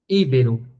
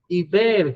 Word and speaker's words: ibero: Mistério, oxítona, filantropo, gratuito, maquinaria, ibero, que muita gente fala íbero, né?